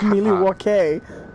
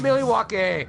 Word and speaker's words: Milwaukee: There's Madison, actually, which it's is pronounced Milwaukee. Oh no, it's not. People have taken quite a bit of issue with that. I just think it's not Milwaukee.